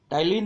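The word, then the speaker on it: ptyalin: टाइलिन में P silent रहता है, TYLIN इसकी स्पेलिंग है, और एमिलेज को कई बार एमाइलेज भी कहते हैं।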